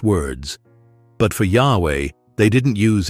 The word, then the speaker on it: Yahweh: what about Yahweh well most Scholars today agree that Yahweh is the closest Rec construction of how YH wh might have been pronounced in ancient times it comes from the